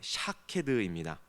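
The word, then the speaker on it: שָׁקֵד: 비슷하다라고 설명을 하고 있죠 살구나무에 히브리어 발음은 샤캐드입니다 지켜보다라는 단어인이 쇼캐드 지켜보다라는 단어는 쇼캐드라는 단어인데요 두 단어 모두이 삭화드라는이 단어 경계하다 망보다라는 동사에서 유리한 단어로 두 발음이 매우 유사합니다 즉 살구나무 가지 환상을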